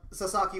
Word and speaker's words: Sasaki: Yeah, so it is Sasaki. I was right. I'm not gonna try to pronounce that.